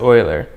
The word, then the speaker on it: Euler: wouldn't believe me either but that didn't stop oiler one of the most famous mathematicians of his time Leonard Euler I believe that says you were yes it is actually pronounced Euler aside from his name oiler derived one of the most famously beautiful math